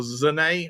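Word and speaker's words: Sané: well as we have to talk about Leroy Sane or Zane as I've now been told on how to pronounce it.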